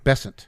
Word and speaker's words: Bessent: happening is as Scott uh how do you pronounce his last name bessent bessent okay as Scott bessent said my good buddy Scott Besson who as you know now that we're you